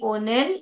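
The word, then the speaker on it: Neill: it's written by मेरी ओनिल इसको नल करके पढ़ते हैं एन ई आई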